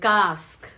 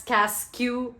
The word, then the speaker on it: casque: So the first is cask and cask. Okay, don't say this as casque or casque and all.